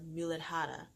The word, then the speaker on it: Muladhara: It's pronounced the Muladhara.